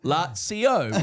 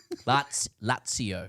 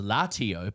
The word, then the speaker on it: Lazio: The Italian pronunciation of Lazio is, and then he says, I took the liberty of pasting what Google says before, Lazio, with the Z pronounced as a sharp CS-TS sound, not a Z sound. Lazio. Yeah. Oh, yeah. It is a two-syllable word in Italian, often heard as latio by English speakers.